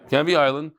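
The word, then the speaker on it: Canvey Island: Stanford Hill Westcliff and canvi Island that's how you pronounce it cany Island should email mdy Stanford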